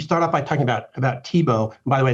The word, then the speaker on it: Tiebout: You start off by talking about TIBO. By the way, it's pronounced TIBO. That's a thing that's always confusing to everybody, but it is pronounced TIBO.